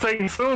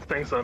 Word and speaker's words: Shang Tsung: They call that Sing Soon. What you Sing Soon? Yeah, it's this Sing Soon? However you pronounce the villain from Mortal Kombat 1. Shang Tsung. Shang Tsung? Yeah, Shang Tsung. Shang Tsung. Shang Tsung? Or Shang Tsung? Shang Tsung. Shang Tsung. Shang Tsung, there we go.